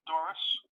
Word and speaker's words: Doris: My name is Doris. The last name is spelled D as in David, O-R-I-S.